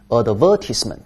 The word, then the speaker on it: advertisement: 它的名词形式读音发生变化 advertisement，动词 advertise，名词 advertisement。